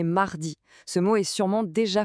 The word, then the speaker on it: mardi: La prononciation est mardi.